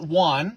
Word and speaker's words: Oanh: it's a lovely name you spell it o a n h that's right what part of the world is that come from or does that does that name mean you pronounce it Juan yes what does that what